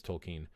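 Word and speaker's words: Tolkien: as tolken tolken tolken tolken I think it's tolken is how it's pronounced JRR tolken uh he was trying to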